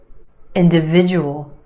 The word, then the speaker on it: individual: Individual, individual. 5 syllables in this word. Emphasis on the third syllable, the sound, individual, individual. The second syllable is where you have the schwa, d, d. Inda, inda. Individual, individual.